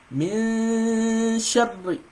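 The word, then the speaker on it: مِنْ شَرِّ: So you see how I pronounce it here? Min Sharri. So you have to do the Ghunna for 2 seconds.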